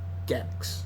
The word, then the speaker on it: Gex: week after that the second TT would be gex is that how you pronounce it gex the G gex the gecko and the third